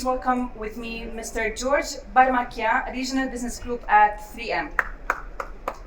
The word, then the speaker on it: Baramakian: well and staying safe my name is george varmakian and i work for minnesota mining and manufacturing